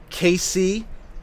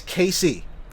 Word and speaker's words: Casey: but for some reason Casey isn't short enough for some people it's literally two letters two syllables they'll instead call me case I hate that I absolutely hate that like my name is Casey it's two letters case is stupid there's no reason it's